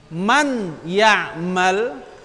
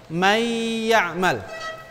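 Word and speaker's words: من يعمل: Man ya'mal atau man ya'mal atau may ya'mal? Yang mana? May ya'mal. Idgham itu seakan-akan nunnya hilang. Nah, seakan ini nunnya hilang, ya-nya bertasydid.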